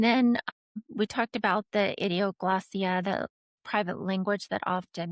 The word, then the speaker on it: idioglossia: Cryptophagia and then idioglossia, is that how you say it?